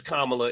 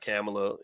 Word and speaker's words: Kamala: this okay so yeah it's kamla it's not camela you know let's pronounce her name right why not I mean